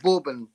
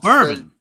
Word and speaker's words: bourbon: Um, I've got Borbin biscuits. Very popular choice over here. Borbin. Borbin biscuit. Oh, bourbon. Borbin. You guys say borbin.